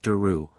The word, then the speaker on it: der: Their name was derived from der, pronounced deru, Celtic for oak, and ydd, a common